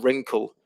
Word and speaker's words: wrinkle: e and vineyard and wrinkle with a again with that w r where the where the w is silent so there's some other